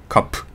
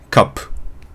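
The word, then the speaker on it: cup: カップティーカップのカップはくらいあなんで気持ち暗めに短めにカップカップカンプみたいなちょっとテンション低めの感じでやるとうまく発音できると思いますってことでまぁ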